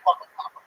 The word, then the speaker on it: Bonbon: Bonbon. Is that a food? Bonbons. Yeah, it is. You're a little chubby. Bon rhymes with Bon. Yeah. And you just say it twice.